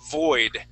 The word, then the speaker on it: void: All right, so let's practice it with the word void. Try that. Void. Void. Void and in the void. Okay, so right there I'm hearing a little bit more of a B sound saying void.